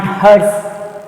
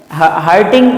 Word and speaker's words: hertz: It is not hertz. Hurting, it is different. Hurting. I got hurted by you, like that you can say. Correct? No. But it is not hurting. It is hertz. How to pronounce? Hertz. Hz.